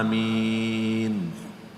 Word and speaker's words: Amin: dia mentafsirkan Surah Yasin Dia berkata Amin dibacakan seperti Yasin Bagaimana cara baca Yasin Yasin gitu ya Yasin benar ya Yasin betul Amin bukan Amin atau Amin Amin siapa amin amin seperti baca Yasin Oleh karena itu jemaah